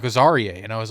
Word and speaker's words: Azariah: We've been saying his name wrong. Really? It's not Azariah. What is it? Azarie. Azariah.